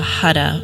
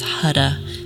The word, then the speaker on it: Har: to use the mantra hada which is spelled h-a-r but the tongue hits the roof of the mouth as though you're rolling your r so it's hada almost like you're saying h-u-d so we'll be chanting